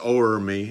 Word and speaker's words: o'er: Oh, and I always have a little trouble pronouncing that, but it's not Love Reign Over Me, it's O'er Me, and I don't know